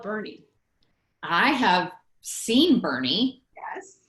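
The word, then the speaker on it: Boerne: it that's crazy wow isn't bernie spelled differently like german so the first it's b-o-e-r-n-e apparently in german the first vowel is silent got it i i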